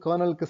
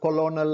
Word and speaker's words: colonel: ஸோ நீங்க நல்லா பாருங்க, இது வந்து ஸ்பெல்லிங், கர்னலுக்கு ஸ்பெல்லிங் வந்து COLONEL. ஆனா வந்து நம்ம கொலோனல் அப்படின்னு நம்ம சொல்ல மாட்டோம், கர்னல். ஸோ அதை வந்து கர்னல் தான் சொல்லுவோம். நம்ம ப்ரொனவுன்ஸ் பண்ணும்போது நல்லா பார்த்துக்கோங்க. கர்னல், அதாவது KERNELங்கிற மாதிரி அந்த ஸ்பெல்லிங்கில் வந்து நம்ம ப்ரொனவுன்ஸ் பண்ணுவோம்.